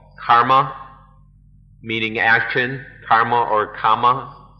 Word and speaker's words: karma: But if we understand karma is the Sanskrit pronunciation, kama, the Pali pronunciation.